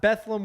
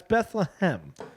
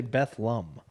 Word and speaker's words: Bethlehem: art Quest bethleem Bethlehem now that's not bethleem with a u folks that's Bethlehem I don't care where you where you're from the locals say betham really grinds my ass